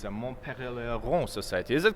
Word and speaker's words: Montpellier: It's a Montpellier Society. Is it correct? Oh, good. So actually, it was in Switzerland. So, anyways, we can also stick to the English pronunciation, Montpellier Society.